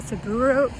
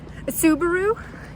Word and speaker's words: Subaru: because this girl is going to drive a suburo yeah I still need to to work on my pronunciation but I think it's called SA saaru Subaru thank you a Subaru Forester from 2011 I